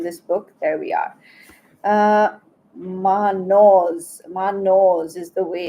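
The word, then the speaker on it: Mannaz: Manos is the way it's pronounced actually.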